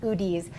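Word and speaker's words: Udi's: bought you i think it's it's udi i think it's pronounced oodies it's a gluten-free company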